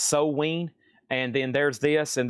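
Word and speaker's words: Samhain: Sam Hain's a $50 start. It's pronounced So-Ween.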